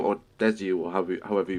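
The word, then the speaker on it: です: what does the DESU or DESU or however you pronounce that mean in your name on Twitter? So that's Des. Like it's pronounced Des.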